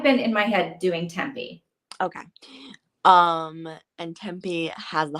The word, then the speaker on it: Tempe: Gabby is definitely dead, and Tempe, is her name pronounced Tempe or Temp? I think it's Tempe, like Tempe, Arizona.